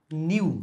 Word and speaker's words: nu: to 1 upon T first of all okay new new ok this is prounounced pronounced new understand this is mu ok the